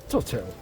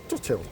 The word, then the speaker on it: Rhuddlan: The lady behind the desk told us that the pronunciation of the Welsh name was Rhuddlan. So the Welsh, this is not Rhuddlan Castle, this is Rhuddlan Castle.